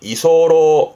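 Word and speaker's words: 居候: 발음이 이소로, 이소로, 소로입니다.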